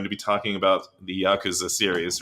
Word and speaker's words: Yakuza: It's not a hard "kuz" sound.